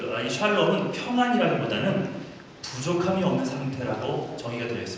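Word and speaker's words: שלום: 하겠습니다 여러분 혹시 그 샬롬이란 말 많이들어요 샬롬 예 옆 샬롬 라 뜻이잖아요 샬롬 하고 이스라 백성은 진짜로 인사를 합니다 한번 나눠보세요 예 발음을 무 세게 하면 이상한 말이입니다 좀 부드럽게 하면 인사 하는요 평안 평안이나 평화라고 우리가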